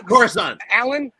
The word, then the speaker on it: Coruscant: Okay, that's Coruscant. Alan, that's exactly the correct pronunciation.